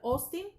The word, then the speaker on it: Austin: Austin, se pronuncia Austin, y John Searle, se pronuncia en inglés, John Searle, con Searle.